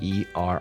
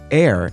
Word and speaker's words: err: should point out that while David's is the more courageous choice air is still considered acceptable but I digress I